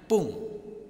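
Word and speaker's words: 分: Jika angka 2, 5, 7 dan 9 di depan fung dibacanya fung pakai F ya. Dan jika 1, 3, 4, 6, 8 dan 10 di depannya maka dibacanya pung ya, pakai P. Jadi jangan tertukar ketika ada fung itu di belakang angka yang angkanya 2, 5, 7 dan 9 maka dibacanya fung pakai F. Dan jika 1, 3, 4, 6, 8 dan 10 itu dibacanya pung pakai P ya.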